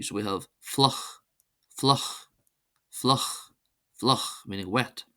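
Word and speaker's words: fliuch: IU is pronounced as a U, so we have fluch, fluch, fluch, fluch, meaning wet.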